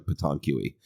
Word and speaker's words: pétanque: Well, France has something pretty much identical called pétanque, and it's spelled like nothing like it sounded. It's like pétanque.